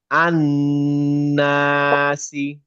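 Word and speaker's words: النَّاسِ: আচ্ছা, এরপরে আসে আমরা নুনে পড়ি, এখানে লামের উচ্চারণটা হবে না, কেন হবে না এটা আমরা পরে শিখবো, আপাতত মনে রাখেন আন্নাসি, আন্নাসি।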